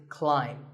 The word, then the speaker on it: climb: not an a sound so the word is climb by the way what's this this is my thumb it's not my thumb it's pronounced thumb and what about this this is